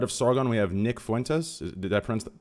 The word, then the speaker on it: Nick Fuentes: destiny into the right of Sargon we have Nick Fuentes the deference that pronounced like correctly for instance yes correct correct